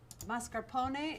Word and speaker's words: mascarpone: This is mascarpone, pronounced mascarpone in Italian.